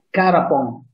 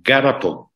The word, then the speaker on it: Garapon: Garapon si legge quindi alla greca finale. Garapon. Con la G iniziale, Garapon. Garapon, sì. Okay. Garapon, con la G come Genova.